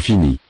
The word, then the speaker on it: finit: Il finit. Il finit. Elle finit. Elle finit. Fini. Add the ending. I, T. The final. T. Is not pronounced.